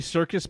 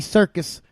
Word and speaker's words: Serkis: you're not gonna get Andy Serkis as I say his name just like the circus yeah I don't like